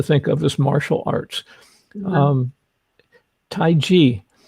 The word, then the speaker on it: taiji: of as martial arts taiji or tai chi depending on how you want to pronounce it he says taijia he's from china i'll take taiji but qigong and and